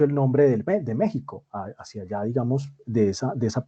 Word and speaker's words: México: imagino que que conocerán la equis no se pronuncia sino uno no dice méxico estaría mal mal dicho se dice méxico es decir todo lo que se escribe con x es se pronuncia con jota y eso tiene una